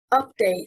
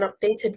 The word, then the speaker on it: update: Update, stressing on the first syllable, means an updated version, and it is a noun. Update, stressing on the second syllable, means to modernize and is a verb.